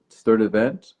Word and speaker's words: Sturdivant: My last name is pronounced Sturdiv Sturdivant or Sturdivant.